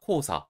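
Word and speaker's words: 黄砂: 반면에 코우로 읽는 단어는 황사, 코우사 정도만 체크를 해주시면 됩니다.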